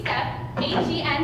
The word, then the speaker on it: Stephen: to say the name Stephen wrong. I used to say it S-T-E-P step, H-E-N head, step hen. Step hen is Stephen.